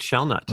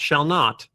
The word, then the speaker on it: Shellnut: Kate Shellnut. Right. Nuts have shells. That's how it's spelled. Shellnut. Shellnut. Not shall not. Shell nut.